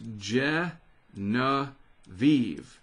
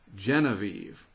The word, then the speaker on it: Genevieve: Well, according to the East Pacific Basin Storm Pronunciations Guide from the National Hurricane Center, if I'm understanding it, that's Genevieve. Genevieve.